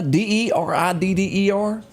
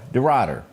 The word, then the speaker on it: DeRidder: DeRidder, Louisiana, DeRidder. Anybody familiar with that? Spell it one more. DE capital RIDDER. DeRidder.